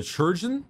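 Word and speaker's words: Chirurgeon: There's also a churgeon. That's how it's said properly.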